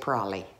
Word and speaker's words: probably: with amongst each other the word probably does not get pronounced like that we say it prolly probably so are you